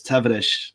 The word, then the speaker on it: Tavares: brazilian heritage tell us tavares how would we pronounce portuguese how would you pronounce him they say the way they say the s is like the sh at the end so it's tavernish it's like really yeah